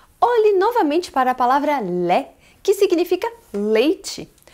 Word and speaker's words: lait: Por isso que você não pode fazer o som do T no final da palavra lait, d'accord?